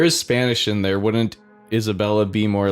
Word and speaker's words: Isabella: Hopefully you can help us out too, Isabel. Isabella. What? Just that she's saying everyone's name wrong constantly. Oh, yeah. Mary Ann. Yeah. Right. It's a lovely name, Isabel. It's Isabella.